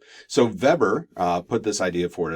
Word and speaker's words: Weber: by the name of Weber because he was German so we pronounced that as V not W so Weber put this idea for